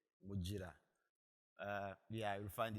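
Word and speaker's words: Mugira: is G not J muira uh yeah you will find it there G pronounced as J uh I do a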